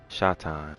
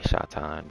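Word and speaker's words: שטן: gonna scroll down, and in Hebrew it could be pronounced the same way, Satan or Satan or Shatan, and I say Shatan, but so good.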